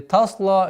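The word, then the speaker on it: تصلى: Тасла наран хамия. Та, мягкий звук. Тасла. Удлинение в размере двух огласовок. Удлинение. Тасла. Лям, мягкий звук. Тасла. Нет, или тасла, или тесла. Тоже ошибка. Мягкий, твердый, мягкий. Тасла.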